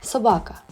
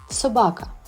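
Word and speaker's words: собака: and protector let's try to learn how to pronounce the World talk in Ukrainian Sabaka once again Sabaka wonderful well done I am sure that broco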